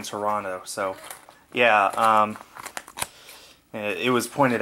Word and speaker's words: Toronto: Fun fact about the Canadians, they don't pronounce the second T in Toronto, so yeah, it was pointed out in Argo.